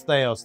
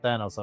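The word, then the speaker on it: Thaos: uh very well and it's Theos not Thanos I've been saying it wrong the whole time if you find your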